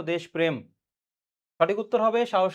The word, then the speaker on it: দেশপ্রেম: ভিতু প্রকৃতি নরুলদার সাহস এবং একই সাথে তার দেশপ্রেমী কিন্তু জাগ্রত হয়েছিল তাহলে এটা এই তিনটাই সঠিক উত্তর এবং এখানে আরেকটা বিষয় তোমাকে জানতে হবে দেশপ্রেম এটি হচ্ছে বানান।